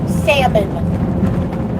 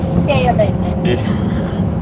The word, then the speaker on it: salmon: It is salmon. The L is silent. It is salmon.